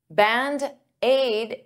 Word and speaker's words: Band-Aid: Band-Aid is 2 words, but to pronounce them like one, I'll take that D and transfer it to the vowel.